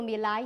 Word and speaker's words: Mirai: 英文名 Mirai，日文读作 Mirai，和美国特斯拉公司